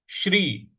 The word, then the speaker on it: श्री: ओम श्री। श्री बड़ा वाला श और आधा र, तो उसका उच्चारण होगा श्री।